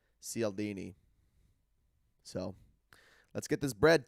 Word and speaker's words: Cialdini: It would be Cialdini. Soft C.